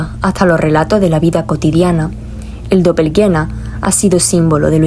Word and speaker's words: doppelgänger: mismo tiempo fragmentos de un todo la palabra dopel guena Así es como se pronuncia es un vocablo alemán para definir el